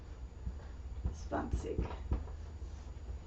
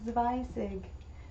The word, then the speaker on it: zwanzig: The number for 20 is zwanzig. Um I think it Yeah, it is sie. Zwanzig. Not zweizig.